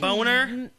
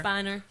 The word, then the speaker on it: Bonner: Matt can- Boner, or probably Bonner. It's Bonner. I know. I know exactly how it's pronounced.